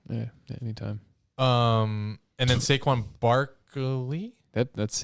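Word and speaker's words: Saquon Barkley: you for apologizing yeah anytime um and then saquin Barky that that's how you say his name there's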